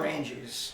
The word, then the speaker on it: Maranges: creators what's your last name again manges manges did I pronounce that correctly you did all righta did